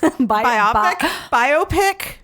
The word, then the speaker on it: biopic: In the Queen biopic. We Will Rock You. Rhymes with myopic.